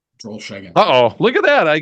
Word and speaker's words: Drollshagen: Drollshagen.